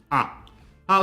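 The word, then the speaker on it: あ: irana for the vowel a how to pronounce a i is pronounced like ah like when you come to a realization in ragi is written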